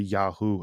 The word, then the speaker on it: Yahweh: Um again we don't know how it's pronounced probably closer to Yahoo at that time.